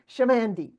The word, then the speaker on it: Chamandy: For the audience, you'll see it's spelled C-H, pronounced S-H.